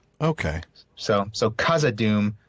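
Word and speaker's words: Khazad-dûm: his tolken says backhand it's basically a k with a strong puff of air okay so so kazad Doom not kazad Doom well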